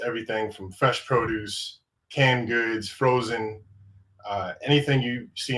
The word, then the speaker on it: Goode: and uh you know the E is silent and good and so